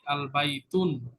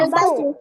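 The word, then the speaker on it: الْبَيْتُ: এই যে এখানে তায়ের উপরে দুই পেশ ছিল আগে, বাইতুন, এই এন উচ্চারণ হইতো, ডেফিনিটের ক্ষেত্রে তখন আর এই আল বাইতুন এনটা আর উচ্চারণ হবে না।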